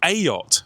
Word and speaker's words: EJOT: Instead, we're visiting AOT, as it's pronounced.